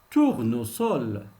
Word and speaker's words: tournesol: Le S entre deux voyelles, il peut se prononcer S.